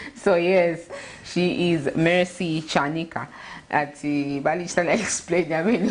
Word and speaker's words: Chanika: Our chairman actually was correcting the pronunciation of her last name, Chanika. So yes, she is Mercy Chanika.